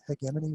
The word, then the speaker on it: hegemony: And he thought up a concept of hegemony, I think hegemony, we use a hard G.